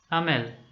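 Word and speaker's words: Hamel: French language teacher Monsieur amel now this is the French pronunciation this is the French pronunciation but we can also call him mr.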